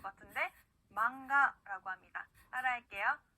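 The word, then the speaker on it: マンガ: 자, 만화라고 하는 일본어 단어, 여러분들 이 단어도 많이 들어보셨을 것 같은데, 망가라고 합니다. 따라할게요. 망가. 네, 좋습니다. 그 다음은요, 니은과 이응의 중간 발음이에요.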